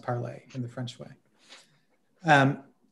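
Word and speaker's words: Parler: social media Network called parlay MH um spelled it's spelled like parlor and a lot of people call it parlor but apparently it's pronounced parlay in the French way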